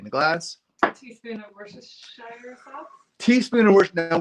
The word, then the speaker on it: Worcestershire: of things, but Worcestershire, typically you don't pronounce the "shire" at the end of it. So it's like Worcestershire sauce.